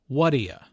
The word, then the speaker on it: what do you: What do you? Notice the pronunciation here. It sounds like what'ya.